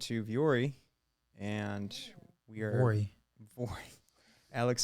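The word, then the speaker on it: Vuori: then we went to Viore and we are Vori. Viore. Alex says However you Viore. pronounce that name. Someone tell us how to Tomato, pronounce tomato. Yeah. It's Viore. V-Ori.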